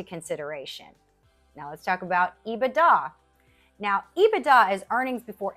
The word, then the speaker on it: EBITDA: But most people are going to pronounce earnings before interest, tax, depreciation, that acronym, they're going to pronounce it EBITDA.